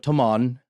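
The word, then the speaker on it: Taghmon: tradition in the village of tomon it's spelled t-a-g-h-m-o-n that claims this version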